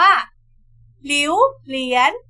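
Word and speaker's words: 榴莲: อะไร เอ่ย เวียน ใน ภาษา จีน ออก เสียง ว่า หลิว เหรียญ หวิว เหรียญ หวิว ๆ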